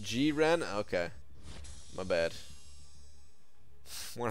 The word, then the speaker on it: Jiren: He's from DBZ, but it's not Jiren. It's pronounced Jiren.